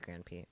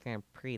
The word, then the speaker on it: Grand Prix: race cars got it gp gran p okay probably something that utilizes his super haka skills time to go up get by a budweiser branded car pronounced grand prix that's what i said i'm pretty sure that's